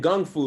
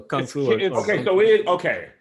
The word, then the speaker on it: Kung Fu: So Kung Fu. It's Cantonese versus Mandarin, or like the American pronunciation.